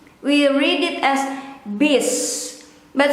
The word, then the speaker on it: bus: we read it as biz but some people might pronounce it as buzz or in between e and o bish bish bus bis